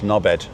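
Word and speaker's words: Norbert: But he didn't pronounce the T. So it was a D on the end.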